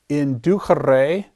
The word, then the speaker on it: inducere: You may have heard this infinitive pronounced inducere. The church pronunciation of the C is a CH, whereas classical pronounces the Latin C as a hard K sound.